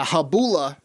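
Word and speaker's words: Gabola: shack sabbath uh the habula church uh silent g g-a-b-o-l-a if you want to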